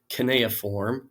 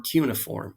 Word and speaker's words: cuneiform: The form of writing that they're using is called cuneiform or cuneiform. You'll hear it pronounced either way, and that is a lesson for you in ancient history especially, but also through the Middle Ages.